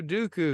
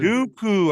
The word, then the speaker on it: Dooku: Dooku and Count Dooku don't say that wrong or I'm a not uku Dooku Dooku I said Dooku saying